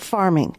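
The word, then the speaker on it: pharming: When dealing with medicine, it's called farming. And that's farming spelled with a PH, as in pharmaceutical.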